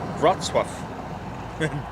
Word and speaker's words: Wrocław: Pronounced Wrocław.